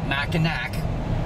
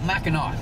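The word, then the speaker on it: Mackinac: Michigan's Upper Peninsula now I know if you look at the way it's spelled it's macak but up here all the locals call it Macar so that's what we're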